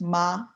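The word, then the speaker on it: 妈: This first word is mother, and it's pronounced ma. The second word is ma. So that's the first one was the stable pitch, second one's rising pitch.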